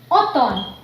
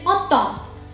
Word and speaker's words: automne: Like we say automne.